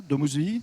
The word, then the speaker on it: Domus Vie: Domus Vie, le cas pratique, comment on peut Domus Vie, on prononce bien comme ça, Domus Vie ?